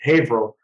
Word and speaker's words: Haverhill: if not my constituents would kill me it's Haverhill thank you yeah one of those Massachusetts towns that are tough to pronounce 24 hours in April our first and